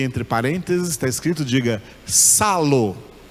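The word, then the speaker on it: ψάλλω: parênteses, está escrito, diga, salo. Não é psalo não, tá? Esse P aí é mudo, então você não pronuncia esse P, é salo.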